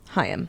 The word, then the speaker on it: Haim: They say it's like L'chaim, but Chaim. lose the L. Haim.